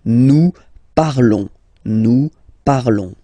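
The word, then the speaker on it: nous parlons: okay new par okay remember final S is not pronounced okay and then this O N together they will give you the sound okay new par all right let's see out for vu vu parley.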